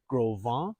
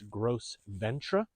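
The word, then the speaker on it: Gros Ventre: here to the east we have the groon mountains if you're visiting this area and your French isn't quite what it used to be you might pronounce this gross Ventra and to the north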